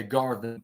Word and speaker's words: Garvin: what's his name Terry Garvin, Garvin, which rhymes with Marvin, but anyway, Garvin, yeah,